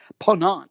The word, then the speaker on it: Ponant: pronouncing that right Doug is it pawn it's a Pon on okay see I'm you know I need them all to have really simple names like virgin voyages so ponant dropped their vaccine requirement